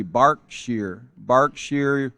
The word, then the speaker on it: Berkshire: This 6-year-old that it looks kind of like Berkshire. I had to look it up because I wasn't even sure how to pronounce that, but it's actually Berkshire, United Kingdom.